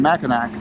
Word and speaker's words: Mackinac: going to keep saying Mackinac. I don't care. To Mackinac Island. That's how it's spelled, that's how it's pronounced.